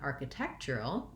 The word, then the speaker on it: architectural: the cheer sound architecture lastly when i'm saying architectural we have a syllable stress change so now i still have a little bit of stress on this first syllable it has secondary stress but my main stress now has moved to the tech syllable architectural architectural so building from that